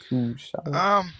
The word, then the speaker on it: Kushida: But you had Kushida. Kusha. He's this TNA wrestler, not TNA. New Japan wrestler. Kushida. How do you pronounce it, DJ? Kushida.